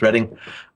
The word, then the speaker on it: Reading: The town is Reading, rather than Reading. I know it's written Reading, but it's pronounced Reading.